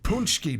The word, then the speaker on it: Paczki: It's also Punchki Day. Punchki are these. It's spelled Paczki, but they are a pastry.